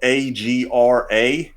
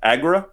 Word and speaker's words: Agra: be mispronouncing it but it's spelled a-g-r-a aggra i guess oh okay all right well we'll believe you or agra like agrabah i don't know all